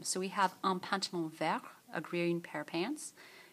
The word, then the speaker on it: vert: If there's no E, we don't pronounce the final consonant.